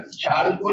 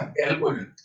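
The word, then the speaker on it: chalcogen: चाल्को नहीं बोलते, कैल्को बोलते हैं, साइलेंट है ना, कैल्कोजन।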